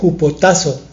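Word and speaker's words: ὑποτάσσω: entender que estar sometidos es una palabra griega que se pronuncia hopotazo suena bastante raro jugoso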